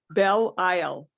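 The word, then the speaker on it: Belisle: B-E-L-I-S-L-E. The S is silent.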